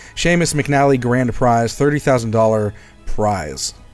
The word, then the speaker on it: Seamus: Is it Seamus? Is that how you pronounce that? Sumus? Seamus. I'm pretty sure it's Seamus. Yeah, Seamus McNally Grand Prize, $30,000 prize.